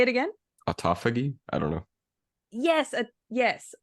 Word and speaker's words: autophagy: official word is model autograph I'm G to pronounce it wrong model autoag no that's not how you say it auto anyway for Mad say it again autophagy I don't know yes yes autophagy autophagy model autophagy disorder there we go that one